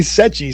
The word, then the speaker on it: Sechi: Uh, it actually can be pronounced a lot of different ways. If you're using the original Sardinian version that had an extra C, it would be pronounced sei. Okay. But most people call me Sei. Uh, or people who don't know me called me Setchi. So, any of them is good.